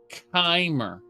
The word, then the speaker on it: Chimer: the copper very good anyone who pronounces it kim should start spelling it that way too oh no supposed to be kymer like chimera and shim uh sorry